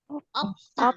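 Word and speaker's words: 없다: Opta. Opta. Opta. Oke. Nah, di sini kalau siat ketemu sama diget, Opta. ini juga akan dibaca sang diget atau dibaca T ya.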